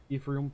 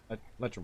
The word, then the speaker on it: electrum: Group Pronounce that right? discount. Haggle. Ephraim piece. Electrum? Electrum? Thank you. Electrum.